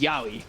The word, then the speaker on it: Yahweh: What is the correct pronunciation? So chat said it was Yahweh.